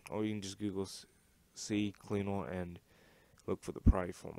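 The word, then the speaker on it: CCleaner: I like the it's actually C Cleaner, but for some reason I have this habit of pronouncing it CC Cleaner.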